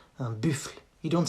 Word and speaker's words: buffle: Un buffle. Not un buffle. Un buffle. It's like buffle. Buffle. And same, it ends with a silent E that you don't pronounce. Un buffle.